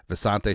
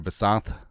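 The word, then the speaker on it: Visanthe: Vante Shenko, sorry, Vasant, because he changed the pronun pronunciation of his name, didn't he?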